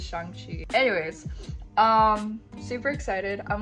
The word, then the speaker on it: Shang-Chi: Everybody around me has been saying Shang-Chi, so yes, it is Shang-Chi.